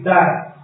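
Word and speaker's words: דעת: Y por último, la sexta es la mente, la mente TAT, D-A-T, D-A-T, la mente TAT, y tiene acento en la primera A.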